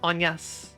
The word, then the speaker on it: Agnes: Wait, how's it pronounced in French? Agnes.